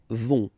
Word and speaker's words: vont: last persons, ils, elles vont, ils vont, elles vont, okay, remember final T not pronounced, so you get this ON nasal here, on vont, Okay, so let's see them one more time.